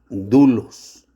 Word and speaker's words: doulos: O sea, la palabra griega para esclavo es dulos. Dulos se escribe doulos.